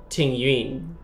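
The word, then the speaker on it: Tingyun: would be in Chinese she said that this character is called Ting Yoon but the characters in the English dub call her Ting Yoon so since I am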